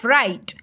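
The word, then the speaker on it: write: टी ई राइट लिखना देखिए ये साइलेंट लेटर भी है इसमें डब्लू हम राइट कह रहे हैं राइट नहीं लिख रहे हैं हम राइट तो ये डब्लू जो है इसमें साइलेंट लेटर है ठीक है नेक्स्ट है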